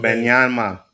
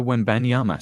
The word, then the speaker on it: Wembanyama: I can't Victor pronounce his name. Wembanyama.